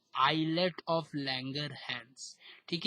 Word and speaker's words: islets: झुंड का नाम है आइलेट ऑफ लैंगरहैंस, ठीक है। आई से स्टार्ट है, एस साइलेंट, समझते हो ना साइलेंट, जैसे आइलैंड में एस साइलेंट तो वैसे ISLETS है स्पेलिंग इसका, ठीक है, ISLETS ऑफ लैंगर, LANGER, ये इंपॉर्टेंट नाम है।